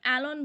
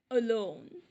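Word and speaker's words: alone: আমরা অনেকে এটাকে অ্যালন বলি বা এলন বলি, একদমই সঠিক নয়। অ্যালন এটার প্রোনাউন্সিয়েশন হবে অলোন, যার অর্থ একা, নিঃসঙ্গ।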